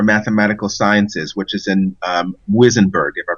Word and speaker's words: Muizenberg: African Institute for Mathematical Sciences, which is in Muizenberg, if I pronounced that correctly. Muizenberg, yeah.